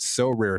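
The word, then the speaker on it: Sorare: win a variety of rewards which can include so rare scarcity cards game tickets merchandise signed jerseys and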